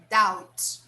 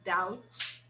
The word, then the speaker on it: doubt: do you think dog doubt doubt this right here the b is silent okay we don't pronounce the b so i seriously doubt that computers will replace